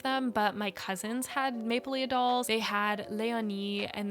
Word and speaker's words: Maplelea: I grew up saying Maplelea, but I think it's actually Maplelea.